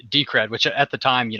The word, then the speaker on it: Decred: for the past year I've called it deed with little fun fact but it is in fact decred for anybody that's curious about how to pronounce it and as I was